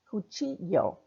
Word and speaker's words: cuchillo: The double L is pronounced like the Y. Cuchillo.